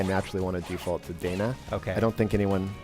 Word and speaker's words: Dana: of the game and it's lacrimosa of Dana not Donna here's the thing so here's the thing technically the thing technically if you want to say at the Japanese it'd be Donna okay being you know